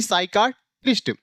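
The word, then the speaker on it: psychiatrist: आर आई एसटी यानी साइका टिस्ट यानी इसमें भी पी साइलेंट हो गया ऐसे साइकोलॉजी में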